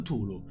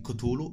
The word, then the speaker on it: Cthulhu: rivista wired the r's la trascrizione tradizionale del nome di questa creatura immaginaria ecco tulu ma sono accettate anche altre forme di pronuncia che rendono il tutto più accessibile a molte forme fonetiche lovecraft trascrisse la pronuncia di cotulo incluso ma tempo dopo la sua morte la pronuncia cthulhu divenne comune ed è tuttora la più diffusa spesso tra le pagine